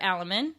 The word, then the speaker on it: Aleman: me so without further Ado this is alaman did I say it right you did you